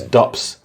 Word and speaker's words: Dups: My name's Dups, not Jups.